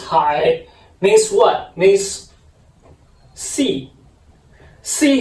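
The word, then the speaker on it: 海: So the second word pronounces high, means what?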